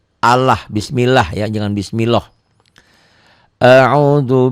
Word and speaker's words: Allah: A'udzu bi lafaz Allah ini dibacanya tipis. Bunyi A ya, jangan bunyi O tapi bunyi A. Allah, bismillah ya, jangan bismillah.